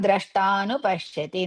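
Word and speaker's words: द्रष्टानुपश्यति: Yada drashtanupashyati. Not dru. Yada dra. So ya Hrisva da Dirgha dra. That is the and ra combination.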